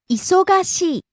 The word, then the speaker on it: 忙しい: 忙しい。 Busy. 忙しい。忙しい。 Rising on the second syllable, so, and coming down on the final syllable, e.